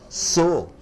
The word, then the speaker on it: sew: You call it as SEW, how do you pronounce? So. So, so. You don't say sew, you say sew.